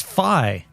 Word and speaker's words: Phi: So, it's Fi. So, the It's just FI, fee, fi, fo, fum. No, it's Fi. It's like rye, but it's If you